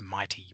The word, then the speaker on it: MITE: of three as the Market Interface Technology Enhancements, pronounced MITE projects.